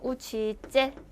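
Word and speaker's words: учитель: 그러니까 아 밑줄은 강세구나 하고 기억을 해 주시면 될 거 같고 우치젤. 자 요것도 미리 말씀드렸죠? 때와 예가 있으면 째 소리가 난다. 그래서 우치째 하면은 선생님입니다라고 되겠죠.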